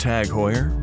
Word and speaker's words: TAG Heuer: Tag Heuer, pronounced Tag Heuer, was founded in 1860 in Switzerland.